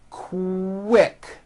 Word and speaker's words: quick: So, for example, the word quick is pronounced with a K and a strong W sound. Quick, like that.